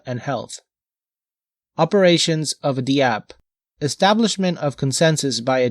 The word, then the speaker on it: dApp: A dApp, pronounced dApp, or now more commonly rhyming with app, is a software application that runs on a decentralized network, such as a distributed ledger.